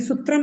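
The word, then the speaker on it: सूत्रम्: किस में क्या लगेगा उच्चारण से समझिए सूत्र मैंने कहा मैंने सूत्रम नहीं कहा सूत्रम तो सूत्रम यानी बड़ा ऊ बड़ा ऊ पड़ेगा इसमें और पीछे हलंत है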